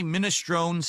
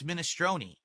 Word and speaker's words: minestrone: So I say Minestron who? And they're like, "No, it's minestrone."